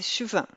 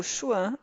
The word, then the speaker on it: Schwann: periférico células satélites de células de schwann ou Chuan a depender da pronúncia Dolly uma revisão né